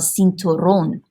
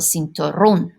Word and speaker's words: cinturón: But remember, an O in Spanish is pronounced O. So el cinturón. El cinturón. Okay? And if you were to make this plural, because you're adding an extra syllable, los cinturones, you drop the accent mark because the stress naturally falls on that O.